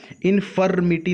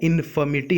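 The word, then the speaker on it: infirmity: इनफर्मिटी का मतलब, यहाँ पर भी हमने आर को नहीं प्रोनाउंसिएट किया, इनफर्मिटी नहीं है, इनफर्मिटी है, आर साइलेंट होगा।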